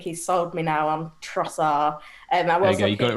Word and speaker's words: Trossard: We've been saying Trossard. Apparently it's Trossard. There's no D.